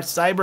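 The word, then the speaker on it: Psyber: This is called Cyber Marshall with a P-S-Y-B-E-R, Cyber. I got creative with the name. What do you guys think of that? Cyber as in Psytrance, the PS, right? Psytrance is spelled with the PSY.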